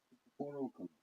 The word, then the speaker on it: Cristoforo Colombo: His name was actually, as you know, Cristoforo Colombo. And Prince Henry the Navigator's name wasn't actually Prince Henry the Navigator.